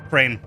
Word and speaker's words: Chrane: Is it pronounced like the animal bird? It's, yeah, Chrane.